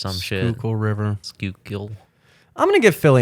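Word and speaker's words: Schuylkill: I finally figured out how to say skole but it's like sh really that's how they spell it the the skookul river skook shle it's like s c h u u k i k y l or some [ __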